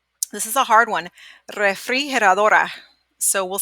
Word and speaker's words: refrigeradora: So let's slow it down. Re. It's okay if you can't roll your R's. You just say re. Re. Fri. He. Well, this one you'll probably do together. He. Her. Like her, but her. Adora. So, la refrigeradora.